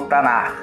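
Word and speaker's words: Tanakh: de Esra, o qual foi nomeado como Tanar, pronunciado como Tanar.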